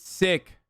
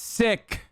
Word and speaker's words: Sikh: It's not pronounced Sikh. It's Sikh. Sikh. You can say Sikh too. I think the British say Sikh. Shut up. I'm saying it correct. I'm saying it correct. I'm saying it correct. It's Sikh. White people say Sikh. It's sick.